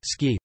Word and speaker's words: ski: the middle of the 20th century helped the ski pronunciation replace it.